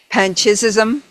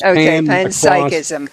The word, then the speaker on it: panpsychism: Yeah cuz it's from psychic. So it's pan psychism psychic.